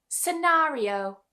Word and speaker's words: scenario: Resuscitate scenario. Kalau bahasa Indonesianya ini skenario SK bunyi K-nya. Tapi dalam bahasa Inggris kita enggak bacanya seperti itu. Scenario the se.